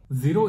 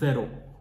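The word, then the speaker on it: zéro: let's start the class जीरो इज जरो नॉट जीरो जरो अ the throw रेते आपरे मुआ रिपीट आफ्टर मी जरो अ the throw repeat once again जरो अ द थ्रो नाउ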